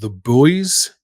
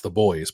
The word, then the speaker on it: The Buoys: Australia they are called the boys it's like spelled like I think it's pronounced like it's the boys but it's it's spelled like the buoys like in the water and it's a play